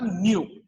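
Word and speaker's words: nu: Frequency F या फिर symbol न्यू, ठीक है, प्रोनाउंसिएशन NEW न्यू है ना, सिंबल ऐसे।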